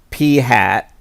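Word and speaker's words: p̂: this problem we have this thing P with a little hat over it and we pronounce that P hat that represents the proportion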